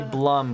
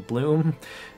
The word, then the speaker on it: Blum: Because everyone wants to say Blum, but it's pronounced Bloom, I believe.